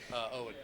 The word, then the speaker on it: Eoin: Owen. Owen. Yeah. So It's the Gaelic, sorry. the E is silent.